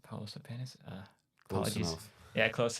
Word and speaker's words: Paulius Lapienis: Paulius Lapienis. All right, Paulus the penis.